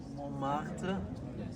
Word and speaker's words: Montmartre: I'm thinking of like Montmartre.